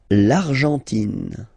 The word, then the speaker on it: Argentine: L'Argentine. Okay, so you've got this nasal here. En, l'argent, and then tin. Don't pronounce the final it just gives you the pronunciation of the N.